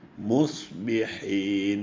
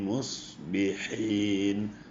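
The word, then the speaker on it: مصبحين: ബിസ്മില്ലാഹി റഹ്മാനി റഹീം ഇതിലും ഉച്ചരിക്കാൻ കൂടുതൽ ശ്രദ്ധിക്കേണ്ട അക്ഷരങ്ങൾ വന്നിട്ടുണ്ട് സ്വാദും ഹായും അസ്വൈഹത്തു പിന്നെയും വീണ്ടും സ്വാദും ഹായും വരുന്നുണ്ട് മുസ്ബിഹീൻ മുസ്ബിഹീൻ സ്വാദും ഹായും എപ്പോഴും ഉച്ചാരണം വളരെ ശ്രദ്ധിക്കേണ്ടതാണ് അല്ലെങ്കിൽ അത് അറിയാത്തവർ അത് പഠിച്ചെടുക്കേണ്ടതാണ് അൽഹംദുലില്ലാഹി റബ്ബിൽ ആലമീൻ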